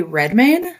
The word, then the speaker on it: Redmayne: I was gonna bring up my first relative experience with drag was watching The Danish Girl with Eddie Redmayne. Yes. Is that how you pronounce his last Eddie name?